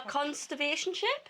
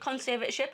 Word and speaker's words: conservatorship: From a conservation ship. Is that how you say it? Conservative ship. conservatorship after 13 years.